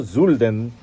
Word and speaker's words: Sölden: Los saludo desde Zolden, o Zulden, como se pronuncia correctamente, en el Tirol, al sur de Austria.